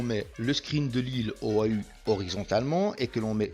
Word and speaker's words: Oahu: Et en fait, Oa est la prononciation d'une île qui s'appelle Oahu.